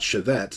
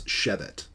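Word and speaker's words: שֶׁבֶת: And I should let you know that in these segel segel tav infinitives, the first syllable is always accented. So this is not shevet, this is shevet.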